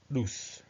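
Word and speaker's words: Nous: hence it is no Noose I think it's pronounced noose as Anna anaxagoras first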